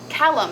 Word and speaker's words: Callum: It's pronounced Callum. It's Scottish.